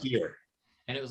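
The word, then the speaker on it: Byrrh: r h h yeah that's pronounced beer and it was like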